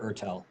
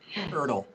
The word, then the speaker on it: Ertel: is Gary, and Gary's Ertel. Am I pronouncing that correctly? Either way, Ertel or Ertel. Okay. Well, do you have a preference? So we call you by the preferred one? Ertel.